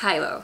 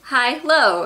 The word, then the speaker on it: Hilo: My last name is pronounced Hilo, so Hi-Lo, and when I tell people how to pronounce it, I'm usually like, Hi-Lo.